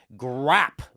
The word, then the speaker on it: GRWAP: how to say this, it's Grap, but its name's. So it's GRWAP, also known as, who's in the VIP lounge with us for $10.